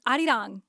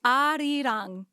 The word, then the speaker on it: 아리랑: So, but that's obviously in Korean itself. That's like Hangul Korean. So like that's how you pronounce it phonetically in Korean.